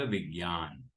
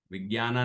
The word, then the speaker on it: विज्ञान: मंगलमय मंगलकरण वीतराग विज्ञान, विज्ञाना नहीं, विज्ञान।